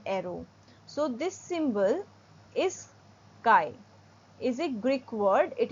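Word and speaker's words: chi: e e head Arrow so this symbol is Kai is a Greek word it is pronounced as Kai C is C in I is I okay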